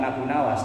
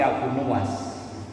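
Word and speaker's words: Abu Nuwas: di makalah berapa kalau dalam kitab ini cara bacanya bukan Abu Nawas tapi Abu nuas nuas itu kuncir rambut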